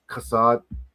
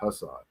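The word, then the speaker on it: חסד: Of course, Ke la olam kasada is like forever his mercy or kindness is kasad. This is actually how you pronounce Hasad's name. It's actually kasad, not Hasad.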